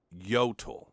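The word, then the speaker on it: Jøtul: pretty brutal Winters and it's called yot it's you know it's spelled with a J but it's Norwegian so it's a y sound J T L they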